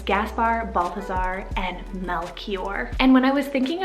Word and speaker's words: Melchior: sounding name i have the name melchior spell m-e-l-c-h-i-o-r melchior so the meaning for this one it's